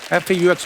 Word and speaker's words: faux: और दिखाइए भाई, ये फॉक्स की सीगा FAUX, what is that? X को प्रोनाउंस ही नहीं करते। फॉक्स फोफर। फोफा तो एक्स नाम नहीं लेना उसका, ना, साइलेंट है वो।